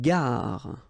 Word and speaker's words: gare: Une gare. Okay, remember when you get these G and A together, the sound is g, ga, ga.